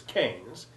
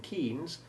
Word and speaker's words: Keynes: Though if you ask me why the sounds of EY in Seymour and Leighton are different, or why the famous or infamous economist's surname is Keynes, but the town is Milton Keynes, I must confess I haven't a clue.